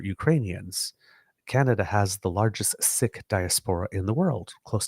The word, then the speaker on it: Sikh: he also was saying Sikh.